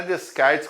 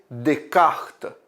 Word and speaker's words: Descartes: Descartes mas não é discais que você não tá jogando baralho para descartar esse s e no francês é mudo e aí fica uma